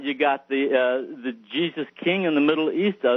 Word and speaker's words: Giza: the great pyramid of giza which uh which e wallace budge the curator for the british museum said should be pronounced not giza but jesus oh really yeah we